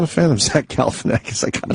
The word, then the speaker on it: Galifianakis: the Obama Funny or Die interview with Zack Galifianakis. Yes, I want to hear that. I could finally pronounce his name after all these years. Galifianakis.